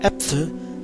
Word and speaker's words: Äpfel: For example, in the word Apfel, the German word for apple, the pronunciation of the A is A, whereas in Äpfel, the pronunciation is a clear E.